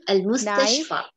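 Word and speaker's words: المستشفى: Al-Mustashfa. यहाँ पर. Al-Mustashfa. Hospital. Knife, Asikino. Germany, Almania. Note that the ya which is pronounced alif has no dots.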